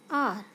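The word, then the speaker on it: hour: We pronounce this word as R. And we pronounce this word as honest. H is silent in both words.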